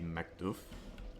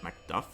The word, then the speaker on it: McDuff: It's actually the first time I realized that he's actually McDouff as he said instead of McDuff.